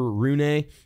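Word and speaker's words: Holger Rune: young Danish kid named Holger Rooney or roon I've heard her to pronounce both ways uh he's gonna be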